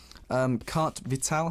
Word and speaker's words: carte vitale: We have something called Carte Vitale.